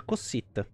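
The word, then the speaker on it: Kossith: Kossit, con la K.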